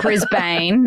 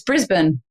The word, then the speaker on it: Brisbane: like oh oh Melbourne and then it's not Brisbane either it's Brisbane anyway that's little bit of a knew that one you knew that one I knew that I knew Brisbane Brisbane there we go they just won they